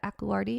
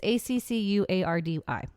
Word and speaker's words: Accuardi: so sorry the aquilardi I'm going to say that aquilardi it's accuardi okay okay the echolardi family